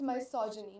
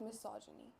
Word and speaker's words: misogyny: So, you can pronounce it as both. None of the pronunciations are essentially wrong. But if you I think if you go to Google, it's misogyny, not misogyny.